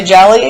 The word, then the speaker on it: Jellie: Are you down to jelly?" And I was like, "You could call me Jelly." I actually kind of like that name. And it rhymes with Kelly.